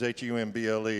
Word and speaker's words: Humble: Now, I grew up in a little place called Humble, Texas, Humble. If you're from there, you don't pronounce the H.